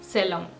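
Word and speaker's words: selvom: ओहा है वो है सेलोम सेलोम आपको प्रोनाउंसिएशन सेलम करना है लिखने में है यह सेल्व ओम और इसका मतलब होता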